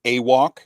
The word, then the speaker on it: AWOK: make sure people know Curtis is saying awok he is saying it correctly he's not saying a whack so this is not